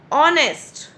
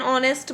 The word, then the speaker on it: honest: Because honest. Here H is silent and there is a vowel sound. Honest. O sound is coming. So we have written N here. Now here few examples. An are an honest man.